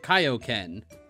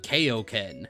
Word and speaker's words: Kaioken: alleviate you know and correct like the pronunciation of like Kaioken when it was a writ when like in the ocean dub people called it kayoken you know there are